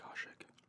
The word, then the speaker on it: Kashyyyk: That's how you say it, Kashyyyk.